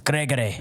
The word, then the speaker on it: Gregory: Um, I feel like you really need to pronounce it with a with with a with a hard G. Yes. Gregory. Is that what I say right? It's Gregory.